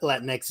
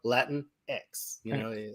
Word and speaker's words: Latinx: Because in our community, there's a lot of back and forth on whether or not Latinx is appropriate, this, that, and the other thing.